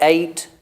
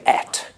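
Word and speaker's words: ate: again again both acceptable the verb 8 now I say 8 but old people would say at at and I was taught at when I was in school but my teacher was very old and she said no we say it I said no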